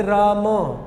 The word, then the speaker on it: राम: अब देखिए मेरा उच्चारण देखिए, मैंने राम, म के बाद भी मैंने अकार का उच्चारण किया। ये शुद्ध उच्चारण है, वो चाहे हिंदी हो चाहे संस्कृत हो।